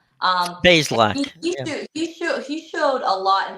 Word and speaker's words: Bazelak: Now they have a third string quarterback that they're putting on the practice squad, and Connor Balzlak. I can never like pronounce his name correctly. It's Bazelak. Bazelak.